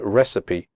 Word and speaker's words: recipe: you pronounce the word recipe correctly the ending cipe is pronounced sippy recipe okay so let's get